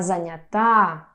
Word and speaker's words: занята: шоке Я занят Я занята Девушки, будьте очень внимательные! Есть возможность совершить распостраненную ошибку. Даже носители языка иногда ставят неправильное ударение, поэтому Я занятА Я занят, позвоните попозже!